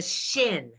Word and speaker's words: shin: name of the letter thank you it's a shin but that's on the right go to the